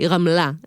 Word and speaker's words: Ramla: very clear intent of it sounding Israeli, Ramla, with the right syllable being emphasized.